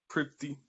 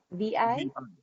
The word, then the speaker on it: Prithvi: And Nishani, you might have to help me pronounce this, but Prithivi, Prithvi. What was that? Prithhivi?